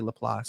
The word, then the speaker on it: LaPlace: is a town called Laplace. Mhm. Some people say Laplace. It's spelled Laplace, but I mean we say Laplace, Yeah. Laplace, Apply. depending on where you like, Mhm.